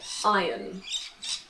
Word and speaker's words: iron: isn't i run in british english we say iron and this is a clothes hanger you can